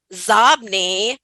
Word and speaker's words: XOBNI: My favorite being XOBNI, which is Zobni, which is inbox spelled backwards.